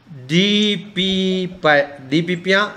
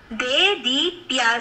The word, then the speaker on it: DeDeePiya: So all of us should thank DPPia Sai. Your name is not that. How do you pronounce it better again? Dedipia, sir.